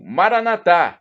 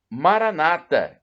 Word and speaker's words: Maranatha: e do aramaico clamo Maranatha e como dizemos nós católicos ou Maranata como dizem os nossos irmãos protestantes e e não importa nossos irmãos e coloca uma tônica na penúltima sílaba e nós colocamos na última não importa porque significado